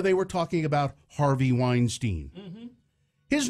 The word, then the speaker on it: Weinstein: And then the host would say again, oh, Harvey Weinstein, what about Harvey Weinstein's... It's Weinstein, and the damn host should listen to his guest and think, oh, maybe I'm saying it wrong, and fix it.